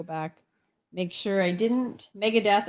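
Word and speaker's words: Megadeth: make sure i didn't mega death apparently rhymes with meredith so there you go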